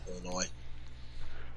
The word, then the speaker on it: Illinois: The S is silent. Illinois.